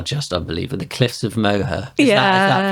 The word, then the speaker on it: Moher: The cliffs of Moher. Is that pronounced right?